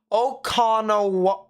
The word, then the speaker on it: O'Connor: yeah okay well emphasis on the con so o'connor now i can't say it